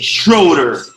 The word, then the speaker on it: Schroeder: 1st with the man with my guy billy schroeder that pronounced your last name right you did hello